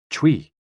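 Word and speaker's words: chui: associated with the lungs c-h-u-i pronounced like tui with a forceful exhale which is also associated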